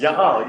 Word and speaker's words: y'all: Y'all, yeah.